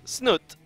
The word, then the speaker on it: Snute: player spawning as the Blues irk it is snoot or as the one guy on Twitter really wants me to pronounce it it's not the present it but